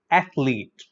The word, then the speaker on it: athlete: Okay, it is commonly mispronounced as athlete. You know, there are many people who pronounce this as athlete. This is incorrect pronunciation. So remember, there is no vowel. There is no vowel between H and L. So between this H and L, there is no vowel sound.